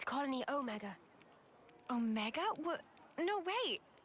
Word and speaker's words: Omega: I'd always heard it pronounced Omega, but I guess it's Omega. At least when being pronounced in European English.